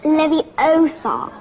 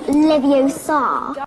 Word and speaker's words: Leviosa: Besides, you're saying it wrong. It's Levie Osar, not Leviosa.